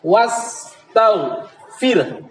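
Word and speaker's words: وَاسْتَغْفِرْهُ: Tapi karena waqaf, karena berhenti, maka h-nya berubah menjadi sukun. Akhirnya membacanya wastaghfir.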